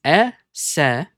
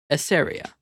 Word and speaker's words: Eseria: The correct pronunciation is Eseria. Eseria.